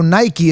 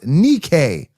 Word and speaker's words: Nike: Okay, so Nike is not pronounced Nikke.